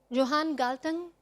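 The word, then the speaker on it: Johan Galtung: Peace journalism in Pakistan Johan galtan I am sure this is correct Norwegian pronunciation um I love this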